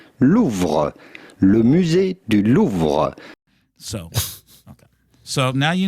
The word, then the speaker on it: Louvre: Oh, you pronounce the R? Yep. Louvre. No, I always heard it was a silent R.